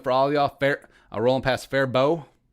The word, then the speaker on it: Faribault: Rolling past Fairbow. That's how you know you're from Minnesota, is that you know how to pronounce Fairbow. As opposed Faribault.